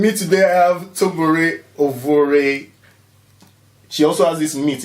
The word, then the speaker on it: Ovuorie: Ovuorie, yeah.